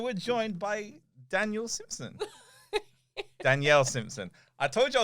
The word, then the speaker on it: Danielle: things and that's it it just goes so daniel yeah as your new name is now daniel danielle daniel i'm gonna go crazy danielle yeah i